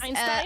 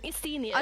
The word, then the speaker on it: Estinian: butchered Wait, how do you say his name again? I read his name as Einstein?